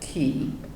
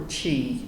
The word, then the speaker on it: ki: There must be a free flow of energy, or ki, or chi, as some people pronounce it, to all parts of the body.